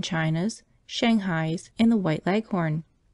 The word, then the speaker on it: Leghorn: shanghai's and the white leghorn when she pronounces this word leaves out the h embarrassing heavily on the last syllable so that it rhymes with begone as i was sitting